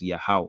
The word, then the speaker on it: Yahweh: Ha, Wah, Ha, which is pronounced as Yahweh.